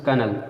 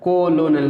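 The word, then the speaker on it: colonel: सिर्फ 3 शब्द हैं जिसमें ओ साइलेंट रहता है, जैसे कनल, ठीक है, इसमें कनल, ठीक है, ओ साइलेंट है, कोलोनल नहीं पढ़ते हैं, कॉनल, ठीक है।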